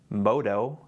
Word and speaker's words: MODO: MODO, M-O-D-O, stands for morning dove.